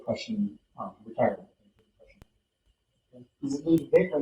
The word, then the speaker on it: Ludwig: Is it Ludwig or Ludwig? It's pronounced Ludwig, but it's with a W.